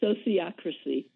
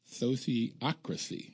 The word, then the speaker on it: Sociocracy: And I also need you to pronounce Sociocracy. Sociocracy. Sociocracy.